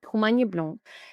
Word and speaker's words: Humagne Blanc: Okay, Humagne Blanc.